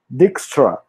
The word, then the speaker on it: Dijkstra: the gigster our work I think the pronunciation is a Dutch so the pronunciation it seems to be like some cuts and something like Dykstra or but we need to